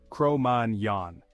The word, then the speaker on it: Cro-Magnon: Technically, their name is pronounced the French way, Cro-Magnon.